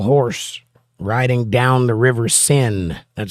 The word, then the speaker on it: Seine: And sadly enough, they had the pale horse riding down the river Seine. That's how you pronounce it.